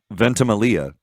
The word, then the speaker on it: Ventimiglia: And the guy who plays him, Milo Ventimiglia, I believe is how you say his name.